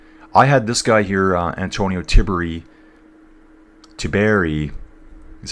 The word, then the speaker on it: Antonio Tiberi: I had this guy here, Antonio Tiberi is how you say it, finishing a lot higher.